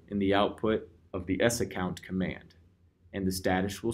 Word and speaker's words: sacct: The other command is SACCT, pronounced as S account, -U and your username.